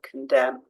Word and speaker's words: condemn: N at the end silent n Autumn condemn silent P to start a